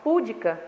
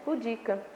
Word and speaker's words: pudica: É a palavra pudica. A maioria das pessoas fala púdica, mas o certo é pudica, tá?